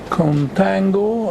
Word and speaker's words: contango: two this situation is known as contango i don't know where this word comes from but it nicely rhymes with tango and i use this